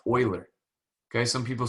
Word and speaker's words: Euler: fella by the name of leonard it's actually pronounced euler okay some people say euler okay but euler all right way back in the 17s okay